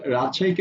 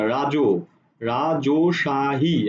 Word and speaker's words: রাজশাহী: যদি আমরা তাকাই তাহলে রাজশাহীকে আমরা কিভাবে উচ্চারণ করছি আমরা উচ্চারণ করছি এভাবে রাজশাহী আমরা কিন্তু এভাবে বলছি না রাজো রাজশাহী আমরা কিন্তু রাজশাহী বলি না আমরা যা বলি সেটাকে